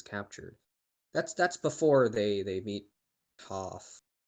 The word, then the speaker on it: Toph: That's before they meet Toph. Toph, that's how it's pronounced.